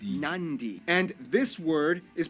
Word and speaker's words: Nadi: makes the th sound, D makes the nd sound, B makes the mb sound. Both Q and G make the ng sound. Therefore, the town of Nadi is actually pronounced Nandi.